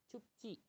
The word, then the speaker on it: 춥지: Cupci. Cupci. Ingat, bacim yang berakhir dengan P, dia dapat mengubah konsonan tunggal menjadi konsonan rangkap. Jadi dibacanya cupci.